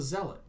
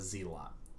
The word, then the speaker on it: zealot: hellion not a helium it's a zealot not a z-lot it's a grenadier not